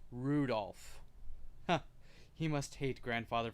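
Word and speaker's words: Rudolf: it's just this anyway this guy's name is pronounced Rudolph huh he must hate grandfather for giving him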